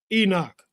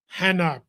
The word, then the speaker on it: Enoch: This is Enoch, Hanoch, pronounced several other ways.